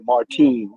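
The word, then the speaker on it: Martín: Martin was looking like Martin I should say Let me give that man his accent on the eye Martin Sor Martin sandor Martin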